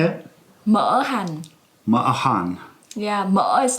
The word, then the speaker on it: Mỡ hành: this recipe yeah how do you say it Mohan yeah much like oil fat and Hannah's jive